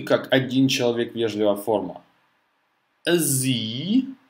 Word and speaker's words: Sie: Sie. Z, три буквы Z, то S и E. Первая S вначале читается как Z.